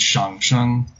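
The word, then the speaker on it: 上聲: But in middle, for the Middle Chinese tone name, it's pronounced with a third tone, so it's shang sheng.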